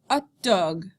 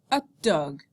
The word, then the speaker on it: hot dog: un steak frites, un hamburger, un hamburger, un hot dog, un hot dog. Notice that hamburger and hot dog, you don't pronounce the H, right? Because it's silent.